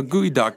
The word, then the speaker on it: geoduck: It's So gooey duck is Not duck. it's not duck. It's not duck. It's not even gooey. It's not even gooey, and it's spelled gooey too. It's spelled like geoduck.